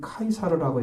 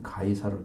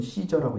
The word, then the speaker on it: 카이사르: 카이사라는 것은 여러분이 카이사르라고 이렇게 읽어야 돼요. 카이사르. 우리나라는 가이사르로 되어 있잖아요. 가이사. 원래는 카이사르. 영어로는 시저라고 읽습니다.